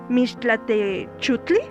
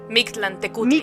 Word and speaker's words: Mictlantecuhtli: río y llegar ante el Mixtlatechutli. Perdón si no pronuncio. Mictlantecutli. Mictlán. Ya, Joana nos ayuda. Mictlantecutli.